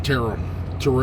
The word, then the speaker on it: Terrell: I'm at a TA in Terrell or Terrell, depending on how you like to pronounce it, Texas.